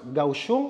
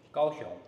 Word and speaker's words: Kaohsiung: mga tourist attraction Sorry How do you pronounce gusong Or kaus shung kawong kawong yeah kawong kawong okay yun pala yun guys kawong pala talaga and then the night market is luhi L Ye yeah luhi dioko loha Grabe ang hirap ng pronunciation philippines so Tara na guys magro tour na tayo It's room number 4 or 804 O ayan sa mismong local na natin narinig na ang tamang pronunciation ay kaong talaga Mali yung na-research namin Pagpasensyahan